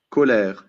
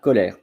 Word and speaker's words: colère: replay team later on so here are the pronunciation for Coler and you will see only from France and from Switzerland colair voila colair um and that's it I don't see any